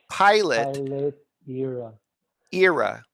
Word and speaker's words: Pilot Era: know oh my god how could they name this camera for me to pronounce it as an error but it's actually RA so I can't even